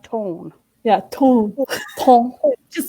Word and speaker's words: ton: I believe she said it's like tone.